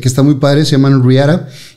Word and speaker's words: Riata: Se llama Riara. Ándele. Porque lo pronunciamos en inglés, porque Riata se ve muy feo.